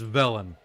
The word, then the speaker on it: Velen: t and i think i was pronouncing velen wrong yeah it's velen it's vel the villain va lynn so i'm saying valen it's actually going to be velen so i'll just try to pronounce it villain hello my name is